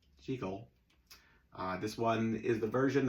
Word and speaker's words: Jekyll: As we found out last week in Edinburgh, Scotland, Jekyll is the correct pronunciation. So, even though it's a silent movie and it really doesn't matter how you pronounce anything when you're just pantomiming, the fact of the matter is, in Edinburgh, it's pronounced Jekyll.